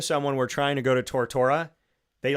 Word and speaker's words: Tortora: So I want to make sure that as Tortora, Tortora is the American way of saying my name. Totora is how you say it in Italian.